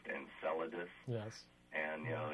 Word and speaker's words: Enceladus: I think it's pronounced Enceladus.